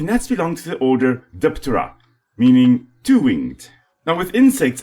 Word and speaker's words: Diptera: 3 in the morning and you don't want to wake up the rest of the house, the P is silent, so you just call it terra. And in this case, when it's combined with di, it's Diptera.